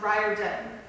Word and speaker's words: Riordan: facts about you well most people pronounce my last name wrong it is actually pronounced rye or dim oh really sorry you're